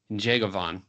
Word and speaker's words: Njegovan: quz Glover and Ivon jeavon and you want to try to get the n Sound when you pronounce his last name it's going to take